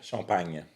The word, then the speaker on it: Champagne: Now you pronounce it the right way. So it's called Champagne, France.